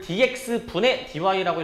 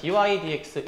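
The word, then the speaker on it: dy/dx: 그래서 이제 저거를 dx분의 dy라고 읽는게 아니라 그 위에서부터 그냥 dy dx 이렇게 이제 읽어 주시는 겁니다.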